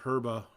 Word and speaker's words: Herba: Or Herba, I don't know. Pronounce the H, don't pronounce the H. You do you. I don't pronounce the H.